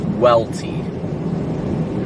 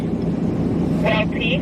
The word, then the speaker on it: Welty: Vince's last name is pronounced Welty. Wait, hold on. Sorry, they were yelling in my ear. Can you say it one more time? Welty. Welty? Yep, Welty. Kind of like fishing well and tea that you drink.